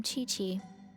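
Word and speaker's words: Qiqi: welcome to booboo pharmacy i am chi-chi wait that's how chichi is pronounced i only know the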